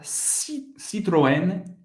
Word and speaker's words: Citroën: Você vai pronunciar, não vai pronunciar o T, e você vai pronunciar nem o E também. Peugeot. Peugeot. Outra marca, Citroën.